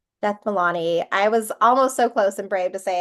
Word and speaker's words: Jethmalani: Milani. Beth Milani.